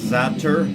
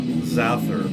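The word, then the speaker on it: Xaster: sweden here's one uh x-a-s-t-e-r zapter not zather but if you can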